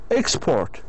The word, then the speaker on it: export: Present, it has 2 syllables, and you need to stress the second one, like the word here export.